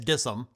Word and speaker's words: DISM: repair issues and errors is dism often pronounced as dissum which stands for deployment